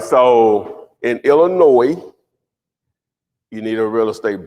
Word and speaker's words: Illinois: Illinois, the S is silent. Illinois. You just learned it, so don't. I just learned that. I did too. Okay. I didn't know. I know. That's what I'm saying. It's Illinois.